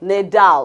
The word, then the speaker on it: Nadal: make this another hmm I made another mistake pronunciation ain't my thing so Rafael Nadal Nadal Nadal okay he's the famous tennis player yes okay